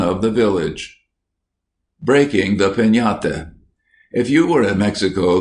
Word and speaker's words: piñata: But everywhere children would be talking about breaking a piñata, pronounced piñata, as you talk of having a tree.